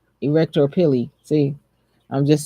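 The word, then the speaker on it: arrector pili: case it's not putting it's pronounced pili erector pili see I'm just saying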